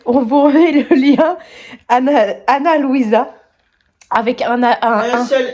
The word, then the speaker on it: Ana Luisa: Anna Louisa, pas Mona Louise.